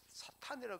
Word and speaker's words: 사탄: 발언 교정시켜 주다 목사님이 사탄이라 그럽니까 사단이라 그러서데 사단이라 것도 아니고 사탄입니다 사탄 그 그 군군 군 목사님이 사탄아 그랬으면 사단장이 기분 안 나빴을 텐데 사단아 그러니까 물러가라 그러니까 그런 일 생겼다는 거 정확한 발음은 사탄이라는 걸 다시 한번 기억하시고 여러분 우리가 힘쓰 사나